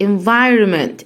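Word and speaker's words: environment: يعني 11 حرف هنقسمها هنقسمها ازاي على حسب النطق يلا انت معي ان فاي ان فاي ان فاي رومينت انفايرومنت انفيرمنت يبقى اول حاجه خلي ابني يقسمها كدا ان فاي بعد كده يقول ان فاي على بعضها ان فايرو انفايرو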